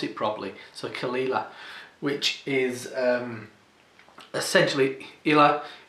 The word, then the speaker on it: Caol Ila: him I just want to know how to pronounce it properly so kalila which is um essentially Ela is Isla it's